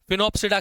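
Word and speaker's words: Sphenopsida: फिनोप्सिडा के अंदर एस जो है वो साइलेंट है।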